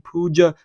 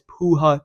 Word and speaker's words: Puja: that's going to be Puja Tomar, also known as Puja Tomar. I'm pretty sure you pronounce it Puja, but I'm going to call her Puja, man.